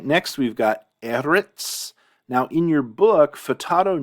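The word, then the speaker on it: ארץ: Eretz, I don't really have a good mnemonic here other than Eretz might sound similar to earth. You have that E-R-T sound in both.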